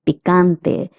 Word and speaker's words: picante: Picante. The CA is pronounced as ca, picante.